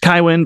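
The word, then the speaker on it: Cywen: I think should name should be pronounced kywin because c-y-w-e-n it should be kywin and it sounds cooler but kiwin I will go with I think she's she's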